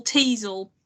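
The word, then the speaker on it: Teasle: but I couldn't shake the whole Teasel rhyming with Weasel.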